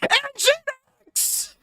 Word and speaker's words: Nginx: And reason being is that Nginx is actually Engine X.